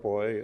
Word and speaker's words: Beu: my name is boy last name is spelled beu it's German EU and German is pronounced boy like in Freud I'm a retired unitary